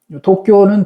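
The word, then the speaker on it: 東京: 도쿄는 도 돼 있잖아요. 그래서 동경도. 그러면 이제 일본어 발음이 도쿄 이렇게 되는 거예요.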